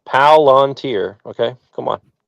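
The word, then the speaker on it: Palantir: Um, it's one word, three syllables. Palanteer.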